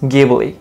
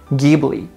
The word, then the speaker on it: Ghibli: japanese anime industry although ghibli is pronounced with a hard g sound in italian ghibli but miyazaki said it